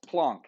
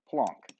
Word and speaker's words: Planck: a scientist named max plunk yes plunk okay looks like Planck it's pronounced plunk so plunk was studying